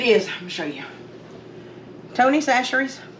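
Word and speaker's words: Tony Chachere's: let me show you Tony sasher that's how you pronounce it saseries it's a creole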